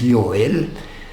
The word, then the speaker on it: Joel: it's not Joel It's yel the letter J in latine is y so it is pronounced as y the name hzi is